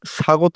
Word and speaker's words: স্বাগত: যেমন স্বাগত স এর সাথে বফলা উচ্চারণ স্বাগত হয় স্বাধীন স এর সাথে বফলা এর উচ্চারণ স্বাধীন হয়।